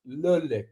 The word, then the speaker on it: Le Lick: Enjoy Le Lick, pronounced Le Lick, because it's very fancy.